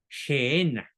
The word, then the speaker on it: Gehenna: Se escribe G-E-H-E-N-A, Gehenna.